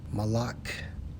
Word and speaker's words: Molech: Molech in the Hebrew Strongs H 4432 pronounced as Malak.